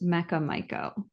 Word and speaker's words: Mecha Maiko: It's It is pronounced Mecca Mico.